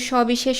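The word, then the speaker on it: সবিশেষ: এরকম করে থাকি যেমন সবি বিশেষ শব্দটা দেখলেই তোমরা বুঝতে পারবে এখানে তিনটা সই আছে কিন্তু আমরা উচ্চারণ করছি কিন্তু একই রকম এই যে স বি শেষ তিনটাই তালবস এর উচ্চারণ হচ্ছে আবার শস্য এখানেও কিন্তু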